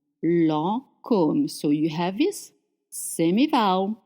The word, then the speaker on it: Lancôme: Lancôme is spelled with the funny hat on the O, but it doesn't change anything in the pronunciation. Lancôme, Lancôme.